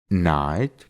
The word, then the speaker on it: knight: después tiene una N, solo vamos a pronunciar la N y no vamos a pronunciar la K. Por ejemplo, know, que significa saber, knee, que significa rodilla, knife, que significa cuchillo, knight, que significa caballero, o knock, que significa golpear.